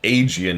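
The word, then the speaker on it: Aegean: I I keep getting screwed up because Eegis is how you pronounce the shield and Aian is how you pronounce the C and they look irritatingly similar.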